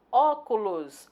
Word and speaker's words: óculos: Óculos, a sílaba tônica é O.